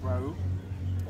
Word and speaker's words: Riu: So, yeah, we're at the actual, how's it pronounced? Rau? Ryu Reggae.